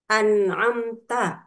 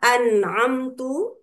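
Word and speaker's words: أَنْعَمْتَ: Misalnya ketika lafaz an'amta pada surah al-Fatihah ayat ke-7 dibaca an'amtu yang seharusnya pelakunya anta yang artinya engkau anta itu engkau Allah telah memberi nikmat.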